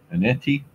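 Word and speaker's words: Etienne: Aneti, that's how you say his name, from the Jags.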